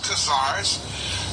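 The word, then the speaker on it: Khazars: Kazar and if you something to write with that's spelled k-h-a z-a-r-s casares and ashtonazim ashkenaz a s h e k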